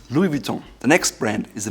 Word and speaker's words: Louis Vuitton: It's Louis Vuitton. Louis Vuitton. It's almost like an umlaut in German on the U, so it's Louis Vuitton. Louis Vuitton. Together, it's Louis Vuitton.